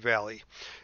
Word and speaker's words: Valle: at this is Valley Valley Vale however you pronounce this I think it's pronounced Valley and if you look